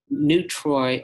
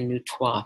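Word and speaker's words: neutrois: identify as a boy as new Troy or new tois people pronounce it different ways androgynous neutral neuter there's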